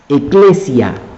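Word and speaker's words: ekklesia: La palabra iglesia tiene su raíz del hebreo kahal, que al traducirlo al griego y al pronunciarlo tanto en griego como en en latín, se dice eclesia, iglesia.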